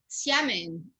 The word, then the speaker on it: Xiamen: Xiamen.